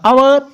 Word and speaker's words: hour: Next है HOUR आवर। इसको आवर बोलते हैं या आवर्स बोलते हैं, और ना कि हावर नहीं बोलना।